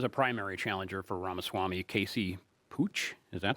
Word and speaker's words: Pooch: There's a primary challenger for Ramaswamy, Casey Pooch. Is that how you pronounce it? Putch.